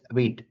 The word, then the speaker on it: Vite: So by using this Vite, we call it as Vite, the pronunciation.